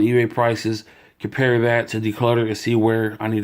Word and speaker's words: Decluttr: It's called Decluttr. It's spelled just as it's supposed to, except for without the at the end. Instead of an ER, it's just an R. You drop the E for Decluttr.